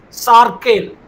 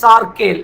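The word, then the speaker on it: Sarkhel: fleet in India was termed as sarel I'll spell it sa a r k h e l which naval fleet I'll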